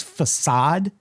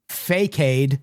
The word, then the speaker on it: facade: The big one for me was facade. Yeah, I would see that in books and be like fake.